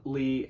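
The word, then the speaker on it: Lei: So, number 10, we have Jason Lee Howden. I think it's pronounced Lee. It's L-E-I.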